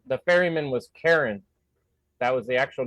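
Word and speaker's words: Charon: wrong the ferryman was Karen that was the actual name it's spelled like Sharon c-h-a-r-o-n but it said Karen which is really funny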